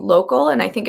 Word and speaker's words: Lokal: I know that there's, just really quickly, there's a great site called Local, and I think it's spelled LOKAL, that also helps with some of